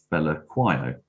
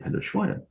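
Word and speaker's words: Phehlukwayo: team, and they were calling him Fella Quio constantly. And I saw a South African friend of mine had tweeted out, why is everybody getting his name wrong all the time? So I got in touch with her and said, so how do you pronounce his name? So she sent me a link to a YouTube video in which Andile Pelushwayo introduced himself as, my name is Andile Pelushwayo, or Pelushwayo. So I came in for the next game.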